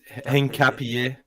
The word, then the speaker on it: Hincapié: Hincapi. Hincapi. Hin- Yeah, I think- there's a I little think bit of a at the end. It's Hincapié.